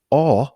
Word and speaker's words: Au: Klaus is believed to have attended grade school in the Aar, which is spelled AU, suburb of Zurich from